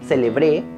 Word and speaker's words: celebré: Con el acento en la última sílaba, celebré, está en pasado. Ayer celebré mi cumpleaños.